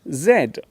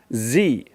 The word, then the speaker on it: zed: letter next to me it is the letter zed in british english we usually call this the letter zed in american english this letter is pronounced zee which can cause some